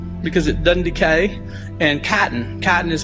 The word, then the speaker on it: chitin: world are cellulose, because it doesn't decay, and chitin. Chitin is spelled C-H-I-T-I-N.